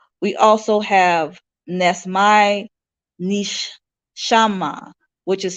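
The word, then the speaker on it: neshamah: separation from Oneness we also have Ness my Nish shama which is spelled n e s h a m a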